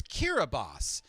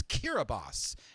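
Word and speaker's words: Kiribati: DS language is pronounced s thus the nation's pronunciation is Kira boss and this World War two battle ate all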